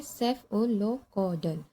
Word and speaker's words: Cephalocaudal: और इसका प्रोनाउंसिएशन होता है सेफ ओलोक कोडल।